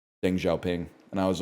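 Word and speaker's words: Deng Xiaoping: And I was like, I pronounced Deng Xiao Pang's name wrong. And like all the other kids in the class, I say other kids as if I was a kid. I was the teacher. All the kids in the class laughed at me. And I was like, "Why are you laughing?" And they're like, "It's pronounced Dinggha Ping."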